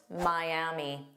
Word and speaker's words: Miami: Miami. Miami. So, notice we have three sounds. My m is the stress sound and then a long e.